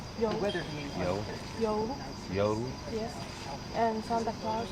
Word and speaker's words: joulu: Joulu.